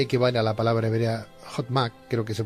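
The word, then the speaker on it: חכמה: Yo me planteo ahora, doctor, porque según los postulados cabalísticos, sabiduría equivale a la palabra hebrea Hotmak, creo que se pronuncia así, sí, Hotmak, gracias.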